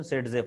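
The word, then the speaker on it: Zaitsev: सेटझेफ रूलचं spelling असं आहे झेटसेव, पण त्याचं प्रोनाउन्सिएशन सेटझेफ आहे.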